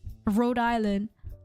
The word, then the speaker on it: Rhode Island: Just don't try to pronounce it with the H and without the H and the S. I literally just say, without the H and the S. Rhode Island.